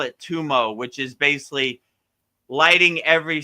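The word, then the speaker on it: tummo: Um let's see it like uh can you read this of Edguru Dev like Kaku tumo taught in talypo six yogas.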